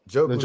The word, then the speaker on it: Njoku: How do you pronounce his name? Njoku's number 2.